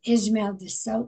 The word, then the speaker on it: Ismael: we are doing this in the afternoon is Ismael Sosa that pronounced right we got it beautifully oh thank